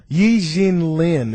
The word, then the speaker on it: Yi Jianlian: Yin Lynn, if I pronounce his name right, he was drafted by the Milwaukee Bucks in the NBA draft.